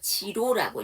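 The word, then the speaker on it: zero: 자, 그래서 아, 이거 제로라고 읽으시는 경우가 있는데요. 제로라는 발음은 없고요. 지로라고 읽어 주셔야 됩니다.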